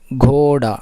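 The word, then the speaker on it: घोड़ा: சரி, அடுத்து குதிரைக்கு என்ன சொல்லுவாங்க அப்படின்னா கோடா. இங்கே கோடான்னு வரும், அப்படி கிடையாது. கோடா.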